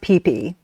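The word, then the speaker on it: Phi Phi: And it's but it's pronounced pee pe just so people understand.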